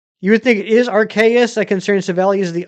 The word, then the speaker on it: Arceus: You say it like Arceus. Ah, okay. Yeah, that's pretty close. I still think it should be Arceus. Rhymes with Jellybird.